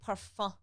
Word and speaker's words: parfum: We don't say the M like parfum. So how do you say it? Parfum.